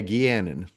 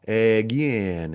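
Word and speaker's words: Egeanin: and yeah, Egianin. Oh no, because there was emphasis on the E and the A. Egianin.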